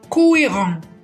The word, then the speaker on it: cohérent: مثال ثالث أو example 3 cohérent cohérent. هنا الحرف الصامت هو حرف الآش لكنه فقط في وسط الكلمة.